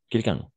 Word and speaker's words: quelqu'un: Numéro 5 et quelqu'un. Quelqu'un. On va prononcer de cette façon, d'accord?